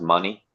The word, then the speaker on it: Manny: And, uh, it's it's actually pronounced money short for it's short for Manish.